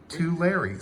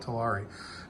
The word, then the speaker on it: Tulare: And I have to say, Bill, help me remember the correct pronunciation as I'm writing a letter to Tulare. Tulare. So I have to remember that. I was calling it Tulare.